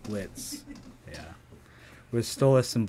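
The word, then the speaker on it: Blitzø: and Blitz? Yeah. Blitz. The O is silent. Blitz, yeah. With Stolas and Blitz when he's singing that song.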